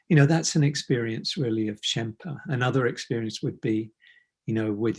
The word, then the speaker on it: Shenpa: And she talks about a Tibetan concept or teaching of Shenpa, and it's spelled Shenpa, Shenpa. It's a nice word, Shenpa.